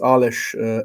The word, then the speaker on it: Alish: For those who don't know me, my name is Alish. For those from the American sphere or Anglo-Saxon sphere, Alish is similar to Alex or something like that.